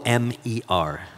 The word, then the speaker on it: Omer: Or how you spell that word? O-M-E-R.